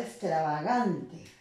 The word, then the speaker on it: extravagante: En el caso de la palabra extravagante, ¿no? Extravagante, ¿no? Esa es la sílaba que tiene mayor intensidad y se vuelve